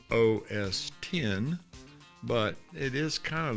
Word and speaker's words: OS X: We have to pronounce it, raise our right hand and say OS 10.